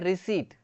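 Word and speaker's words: receipt: कई लोग बोलते हैं रिसिप्ट रिसिप्ट ऐसा करके, लेकिन ना यहाँ पे पी जो है ना वो साइलेंट रहता है, तो यहाँ पे हमें क्या बोलना चाहिए, रिसीट बोलना चाहिए, क्या बोलना चाहिए, रिसीट, रिसीट, पी साइलेंट रहता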